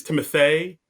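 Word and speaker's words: Timothée: So, it's the same thing where it's not Timothy, it's Timothy.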